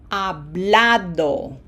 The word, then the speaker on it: hablado: So notice how we say it, hablado. That A gets pronunciation emphasis.